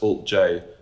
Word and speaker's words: alt-J: So the idea was that the band's name would be the symbol, but it would be pronounced Alt-J.